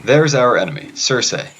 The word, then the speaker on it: Circe: There's our enemy, Circe, which the Greeks would have pronounced more like Kirki, actually.